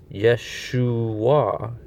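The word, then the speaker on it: ישוע: And then the last character that is to be pronounced is the upsilon. Okay? The upsilon comes from the Wa. So, Yeshua.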